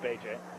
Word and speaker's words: Bajay: Correct pronunciation of his last name. I know, looks like Bach, but it's Bajay.